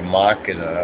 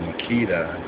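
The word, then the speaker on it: Makeda: individual, Barbara Blake Hanna, also called Barbara Makita or Makita, as some mispronounce the name, but Barbara Makita Blake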